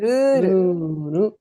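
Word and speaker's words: ルール: Try and pronounce it with the elongation. So you see a dash over here, which means the sound before it is elongated, right?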